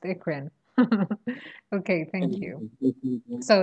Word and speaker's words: eccrine: I just know that it's pronounced ikrin.